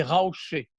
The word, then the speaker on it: Raouché: rochers de Beyrouth, les Raouchés. C'est une déformation de prononciation un peu à la provençale, comme si un Marseillais parlait de Raouché, Rocher, et c'est devenu le lieu de Raouché qui date de la côte phénicienne.